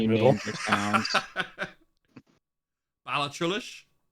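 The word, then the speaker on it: Ballachulish: Balachulish? Oh, it says right there. It's Balahoosh. Yeah, Balahoosh.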